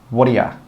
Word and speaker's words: what do you: We join those three words together and we say 'woddayuh, woddayuh, woddayuh.' And this is the same with most phrases that start with 'what do you.' You can pronounce it like this.